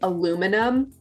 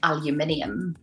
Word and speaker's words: aluminium: like i would say aluminum yeah that is so different and i would say aluminium yeah which is actually closer to how it's spelled yeah so you would